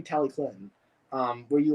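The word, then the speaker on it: Talyllyn: i we can do we can say it the way that that the welsh say it like i think they go tally clinton it's like tally clinton something like that right i always said tallywood my whole life but really it's supposed to be tally clinton um where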